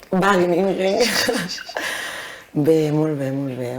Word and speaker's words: Wageningen: Tu pronuncies molt bé, l'holandès. Joder, molt de temps. I què tal allà? Buckingham? Wageningen.